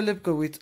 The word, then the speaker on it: Levkovitz: Se pronuncia Levkovitz.